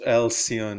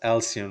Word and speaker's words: Alison: So, in a nutshell, this Alsion, I'm sorry, I pronounced her wrong name wrong. It's Alison Roach Wilson.